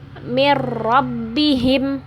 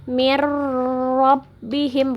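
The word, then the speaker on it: من ربهم: sukun ketemu huruf Ro Jadi membacanya mirrobbihim Jadi bukan Miro bihim bukan seperti itu tapi di tahap ditasydid tidak dengung mirrobbihim seperti itu kalau dhommah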